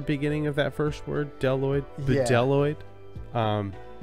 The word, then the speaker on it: Bdelloid: night but yeah we are talking about the deloid rotifer I'm there's a b at the beginning of that first word deloid deloid um it's not pronounced um I would